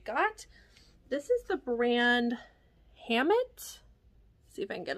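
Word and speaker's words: Hammitt: item that I got this is the brand Hammett see if I can get a little closer here Hammett Los Angeles so in case you couldn't see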